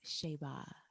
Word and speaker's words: Shayba: I always call her Shay or Shayba, and the correct pronunciation of her name is Shayba.